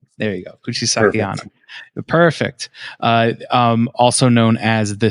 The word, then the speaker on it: Kuchisake-onna: Kuchisake Onna. Kuchisake Onna. There you go. Kuchisake Onna.